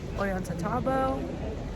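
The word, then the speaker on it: Ollantaytambo: and a half bus ride from cusco to orienta tabo that's how you say it um we're here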